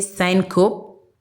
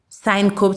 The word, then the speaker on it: syncope: You can say syncope, yes, however you want to call it, is spelled capital SYNCOPE.